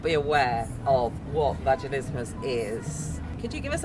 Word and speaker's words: Vaginismus: is fast for Christmas it rhymes with Christmas so remember that and